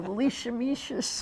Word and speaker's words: leishmaniasis: So the leishmaniasis, whatever it didn't call it. Leisha, how do you pronounce it?